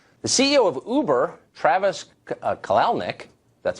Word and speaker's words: Kalanick: for moral posturing the CEO of uber Travis kalanick that's how it's pronounced said his company his quote always believed